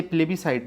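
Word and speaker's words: plebiscite: तो पढ़ते प्लेबीसाइट जनमत संग्रह पूछा था ना मैं आपसे प्लेबीसाइट। लेकिन उसमें लिखते प्लेबिसाइट एस भी रहता।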